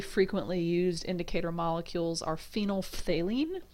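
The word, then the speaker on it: phenolphthalein: used indicator molecules are phenol Faline you've got to say the F and the th if you're going to say it properly that's phen Faline um at ph8 it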